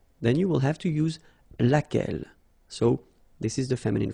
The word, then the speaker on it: laquelle: Okay, so basically same rule, Q-U, U is not pronounced here, and then you get this E-double-L-E, well, phonetically here, it is the same as what we have here, so laquelle.